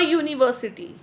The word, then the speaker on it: university: A university. Here U is pronounced like a consonant U.